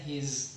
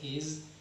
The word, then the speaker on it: his: Kemudian his dibaca z ya, his, bukan tulisannya s tapi pengucapannya dibaca z, his.